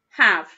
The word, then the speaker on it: have: a go excellent job have um that air is silent when we read it that's the tricky bit of the word have so it's got that air that isn't making any noise did you spell it